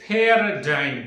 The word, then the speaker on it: paradigm: This is called as paradigm. Three syllable sound it is.